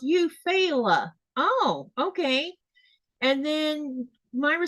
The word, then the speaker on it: Eufaula: And then Melissa says it's actually pronounced Eufaula.